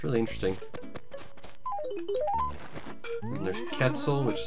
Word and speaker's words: Quetzal: Although, if you break it down phonetically, it does have the same sort of sound a C makes. A percussive K.